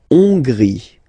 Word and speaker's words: Hongrie: La Hongrie. So remember, H doesn't exist, so you don't pronounce it. So it starts with O-N, on, and then gris, final E, not pronounced.